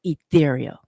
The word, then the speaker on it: E'Thereal: Then you say you can't even pronounce ethereal.